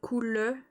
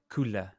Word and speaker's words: coule: at the end, so coule. Coule. Yeah, normally the verb we don't say the e, but in the song it's like 2 syllables.